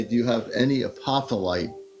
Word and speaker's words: apophyllite: crystal store, and say, do you have any apophyllite? Pronounce it apophyllite.